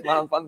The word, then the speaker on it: 牛腩飯: The pronunciation is malampan, but anyway.